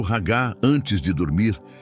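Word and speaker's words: הגה: Para entendermos a natureza desta meditação, podemos olhar para a palavra hebraica ragá. Se pronuncia ragá.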